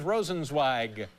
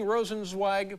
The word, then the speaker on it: Rosenzweig: Am I getting Rosenzweig properly? Yeah. And then is it Wasserstein or Wasserstein? Wasserstein. Wasserstein. E-I in Zweig is Eig.